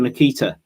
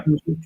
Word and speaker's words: Nketiah: How do you feel about the potential Nikita? Is that the right pronunciation? Nketiah from Arsenal.